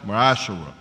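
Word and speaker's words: מעשר: It means a tenth in Hebrew, and it's pronounced Ma'ashara.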